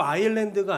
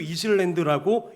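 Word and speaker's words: island: 중학교 1학년들도 쉽게 읽는 이 문장을 제주 아일랜드가 아니라 제주 이슬랜드라고 읽어버린 것입니다.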